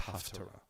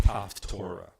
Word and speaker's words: Haftarah: Number one, it's not pronounced Haftorah. It is Haftarah. The difference between these two words are that the word Torah has a tav in it, and the word Haftarah has a tet.